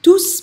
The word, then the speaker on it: tous: Ils sont tous partis. And that's when I pronounce the S on TOUS, when it's a plural pronoun.